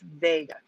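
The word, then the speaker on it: Wega: got to differentiate again it is pronounced vega but i'm saying wiga so you know which ones i'm talking about brian can you zoom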